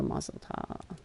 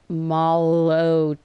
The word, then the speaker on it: Molotov: I would rather have a Mozzeltov. I always say Mozzeltov. I guess I've been saying it wrong my entire life. Mozzeltov. One goes, no, it's Molotov.